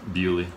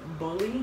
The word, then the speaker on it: Buley: Bewley. Knew it. Okay, because I think she said bully.